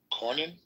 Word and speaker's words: Cornyn: counsel to Senator John Cornyn. Yeah, Cornyn's the right way to say that.